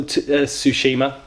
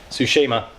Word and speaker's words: Tsushima: a new IP it's called ghosts of the Tsushima sorry butcher the pronunciation there Tsushima it's a Japanese themed samurai action open-world game